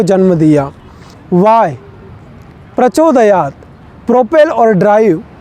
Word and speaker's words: प्रचोदयात: सुव नहीं स्वः प्रचोदयात प्रचोदयात नहीं न के बाद विसर्ग लग जाने के कारण यहां फ का उच्चारण नहीं प का ही होगा इसलिए प्रचोदयात इन उच्चारण का जरूर ध्यान